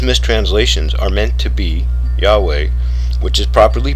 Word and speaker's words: Yahweh: of yahuwah or yahweh at the reformation the former being the more usual was sometimes used as the name of the mighty one of israel and owing to ignorance of its history was misread as jehovah a form which has established itself in english but does not give the pronunciation of the holy name it represents wow imagine that what